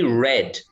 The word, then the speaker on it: read: read but we say red yeah it's pronounced red so in the in now in the present it's read i read in the past i read it's the same as the color red yeah yeah but the